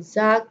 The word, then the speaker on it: zaak: Zaak, kita baca zaak dengan panjang A-nya.